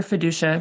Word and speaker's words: Fiducia: Dr. Fiducia, that's how to say her name.